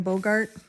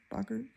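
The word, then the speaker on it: Boggart: this book was when he's facing the Bogart and um or Bogurt. Bogart, how do they pronounce it in the movies? Bogurt.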